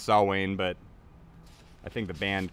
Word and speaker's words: Samhain: tour and I know that Sam Haynes actually pronounced saw Wayne but I think the band calls it Samhain so I'm sticking with that too I like